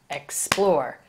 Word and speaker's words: explore: stress change in pronunciation so explore the accented syllable is the second syllable explore explore the second syllable is accented more emphasis but when